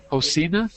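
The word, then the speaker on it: Houcine: And uh, I'm going to say a quick hello to uh, I think it's Hosina or Hoina. How do you say your name? Hosina.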